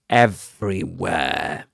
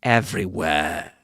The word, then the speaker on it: everywhere: Notice that he doesn't say everywhere. He doesn't pronounce that a sound at the end. Okay, because of Luke's um accent, Southern Standard British pronunciation. Okay, he's got a southern standard British pronunciation. So he doesn't pronounce the o sound at the end of a word except in some cases.